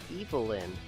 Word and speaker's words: Evil-yn: saying the name wrong it's pronounced evil-lyn oh okay so I pronounced to correct the first time with an emphasis on the evil well that's not a